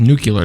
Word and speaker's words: nuclear: So it's pronounced nuclear, dummy.